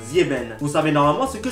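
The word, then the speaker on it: sieben: Quand il y a un S avant une voyelle, eh bien on le prononce Z comme Zieben.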